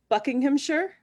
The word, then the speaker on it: Buckinghamshire: So we have New York in the US, Connecticut, New Jersey, Buckinghamshire.